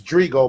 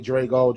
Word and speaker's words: Drigo: It's Drigo, but everybody call me Drago. Drago, it don't matter.